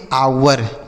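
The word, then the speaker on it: hour: क्या पढ़ते हैं ह लेकिन यहां पर एच साइलेंट है। इसको हम नहीं पढ़ेंगे। तो ओ यू आर को हम पढ़ेंगे आवर।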